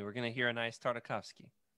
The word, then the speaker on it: Tartakovsky: tavasi man I can I'll never say his name right okay you can say it for me Jared tartakovsky tartakovsky there you go that's right it's like we're